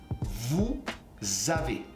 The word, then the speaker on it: vous avez: You can create a liaison. And this liaison will sound like a Z. Nous avons. Vous avez.